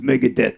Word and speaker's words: Megadeth: they pronounce Mega Death they didn't say Megan it's Mega Death there you go Megadeth